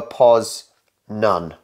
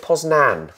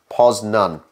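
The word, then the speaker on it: Poznań: the beginner's guide uh it's more of a pause nun sub poznan yeah but I think we would always pronounce it poznan yeah but it does have a thing over the end yeah maybe that's why you it wouldn't be poznan but it's apparently pause none so I think that one's pretty close good dance number six good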